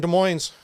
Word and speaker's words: Des Moines: So here in Des Moines, that's how you say it.